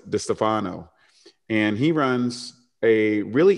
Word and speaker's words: DiStefano: And some people would say it's Joe DiStefano, but he likes DiStefano.